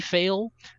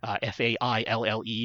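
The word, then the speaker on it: faille: go for either what they call their silky fail f-a-i-l-l-e is the way that you spell that so either the silky fail Fabric or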